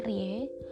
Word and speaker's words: RIE: Rei atau RI e-kita jadi singkatannya erye dibacanya Rie yang dites yang dicetuskan